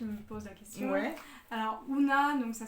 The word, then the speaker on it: Oona: en a qui me pose la question alors una donc ça s'écrit oh on a et en fait c'est